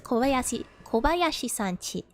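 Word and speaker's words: 小林さんち: I always get it a little confused because chi is written, I think, like uchi, like Kobayashi-san no uchi. But the way it's pronounced is not the same as I would have expected. So it's Kobayashi-san chi.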